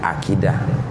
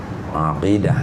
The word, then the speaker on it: aqidah: Bacanya ain ya, aqidah. Bukan akidah, bukan aqidah, tapi ain, aqidah.